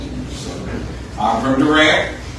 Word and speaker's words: Durant: you so I'm from Durant how you pronounce that word will tell your age the older you are the heavier you are on the D and so it it